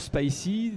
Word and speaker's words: Spicee: Alors, sur Spicy, donc qui s'écrit S-P-I-C-E-E, on trouve essentiellement du